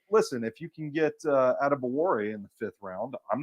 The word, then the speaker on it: Adebawore: Yeah, his name is fun to pronounce once you get it, because it's Adetamiwa Adebawore.